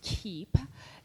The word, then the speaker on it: Kiip: what it actually is ki I he pronounced the key is how brands connect